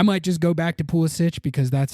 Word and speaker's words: Pulisic: I might just go back to Pulisic because that's how I had been saying it. And he said that that's how you say it, which is like the Croatian pronunciation of the name.